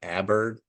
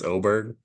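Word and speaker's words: Åberg: It looks like Aberg, but it's Oberg.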